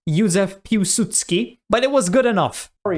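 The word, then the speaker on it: Józef Piłsudski: Polish politician Ysef Pudutski proposed inter. That pronunciation was not bad at all. It wasn't perfect. It's Yuzsephutski, but it was good enough, which was sort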